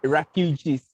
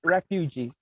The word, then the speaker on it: refugees: Okay, it's refugees. Repeat me. Refugees. Lily, can you Yes, please sir. repeat the word? It's refugees. It's refugee. Okay, this word, the pronunciation of this word is refugees, not refuge.